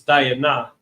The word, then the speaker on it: Dinah: I don't even know if it's Dinah. Let me actually look up the Hebrew. Diana. It's Diana. That's how we say her name in Hebrew. All right.